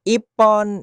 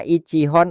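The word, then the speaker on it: 一本: Perhatikan, pengucapannya bisa berubah ippon, nihon, sanbon. Jadi tidak selalu dibaca ichihon atau sanhon.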